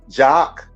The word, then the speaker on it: Jacques: jack is is really oddity and so it's pronounced jock i may do a a special edition at